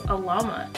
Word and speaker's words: Alamat: Yeah, this is Alamat. I think that's how you say it. Please don't come for me if it's wrong. I'm just thinking Salamat and oh, yeah. Without the S.